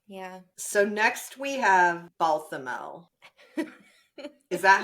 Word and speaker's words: Balthamel: So next we have Balthamel. Is that how it's pronounced?